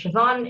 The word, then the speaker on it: Siobhon: please yeah so hi everyone my name is siobhan it's felt a little strangely but pronounced so i originally started off a bit